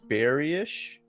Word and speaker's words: Bearish: Okay, you said it's pronounced Bearish? Yeah.